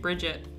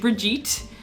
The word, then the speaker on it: Brigitte: new overwatch character and I thought her name was pronounced Bridget it's not but it's not it's not at all I wrote it down